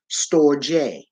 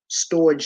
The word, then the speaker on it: storge: Then we have a love called storge, Storge. However, it's pronounced storge, storge. It is Greek.